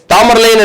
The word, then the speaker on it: தைமூர்: சொன்னா ரொம்ப கம்மியா இருக்கும் தாமரலைன் அப்படின்றதுல ஒன்னும் இல்ல இது வந்து ஆங்கிலேய உச்சரிப்பு தாமரலைன் என்று அழைக்கப்பட்ட அரசர் இவர் தாமரலைன்னா யாரும் கூப்பிடல ஆங்கிலேய உச்சரிப்பு இவருடைய ஆக்சுவலா பேரு தைமூர் ஆனால் அவரை நக்கல் அடிக்கிறதுக்கு